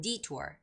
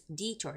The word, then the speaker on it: detour: And the word detour is the first syllable stress word. So it's detour, not detour, detour, no, it's detour, detour, detour.